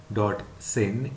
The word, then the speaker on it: Synge: Syng, S-Y-N-G-E, it is written S-Y-N-G-E, but it is pronounced Syng, S-Y-N-G-E.